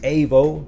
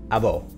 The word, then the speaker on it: Avo: pronounciating my name right it's a bow AVO not ivo you know so that's